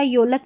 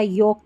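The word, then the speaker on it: yolk: देखिए ओ एल के है ना इसको फोलक या योलक नहीं पढ़ते। फोक या योक पढ़ते हैं।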